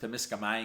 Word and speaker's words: Temiskaming: Incidentally, it's pronounced Temiskaming. Yeah, Temiskaming, that's right.